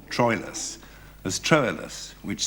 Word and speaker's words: Troilus: Yes, they also pronounced what we call Troilus as Troilus, which sounds more romantic, which probably befits his character. And in that case, Troilus, Shakespeare sometimes scans the word as 2 syllables and sometimes as 3, and it depends on